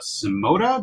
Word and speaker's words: Symoda: and what Wayne's doing over there with uh simota did I pronounce that you pronounce it this time Sam